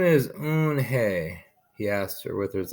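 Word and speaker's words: Unhei: joey slowly nodded yes it's pronounced you and he and in it means grace mr kim added you and hey joey says slowly this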